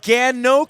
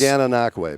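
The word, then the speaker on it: Gananoque: It's Gananaway by the way. Gana Ganway.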